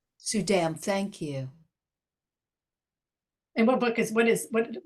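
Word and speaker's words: Suydam: say this Soom I'm not sure how to pronounce the name s u y D- M sudam sudam thank you and what book is what is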